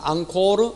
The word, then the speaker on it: 앙코르: 앙코르 알코올. 앵콜하면 안 됩니다.